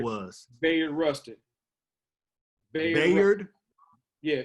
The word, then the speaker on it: Bayard: Bayard.